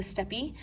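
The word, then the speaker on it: steppe: this area called the steps now we've heard the steps before um it could also be permanent pronounced the steppy i say step when the non-indigenous people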